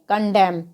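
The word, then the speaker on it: condemn: N silent रहेगा तो सी ओ एन दी आई एम एन तो इसको हम क्या पढ़ेंगे कॉन्डम तो यहां पर कुछ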